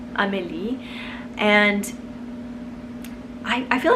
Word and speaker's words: Amélie: I knew a little girl named Emily when I lived in France for a little bit, and pronounced in French, it's beautiful. It's Amélie, and I feel like it could go either way.